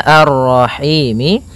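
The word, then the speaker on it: الرَّحِيم: Maka kita baca ini kita boleh memanjangkan dua harakat, empat harakat ataupun enam harakat. Contoh arrahim itu dua harakat. Kalau ee apa namanya? Kalau empat harakat arrahim ya.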